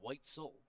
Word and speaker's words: Whitesell: We did learn the actual pronunciation, Whitesell.